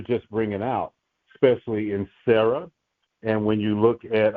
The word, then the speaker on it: Sarah: When we pronounce Sarah's name, we know that it just has the S sound. It has she's not pronounced Shara with the sh. She has the the dot over the left side, which is just a Sarah.